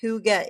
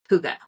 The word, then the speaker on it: hygge: atmology and origins of Huga which is spelled h y g g e it's not spelled the way it sounds comes from the old Norse